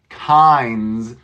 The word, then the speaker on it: kinds: can do all Pines kinds you don't hear a hard D there so if we didn't have the D this would be kind kind but with the S we say kinds kind s so we